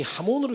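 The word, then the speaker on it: jamón: 자, 그 스페인이 굉장히 하몬으로 유명합니다. 하몬이라고 하는 게 스펠링으로 J거든요. J인데 그 발음이 하가 됩니다.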